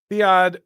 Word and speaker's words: Theo: By the way, the name is pronounced Theo. Oh, fine, he finally did it. Okay, Theo, as in King Theoden, and Saninja as in, sorry, I can't.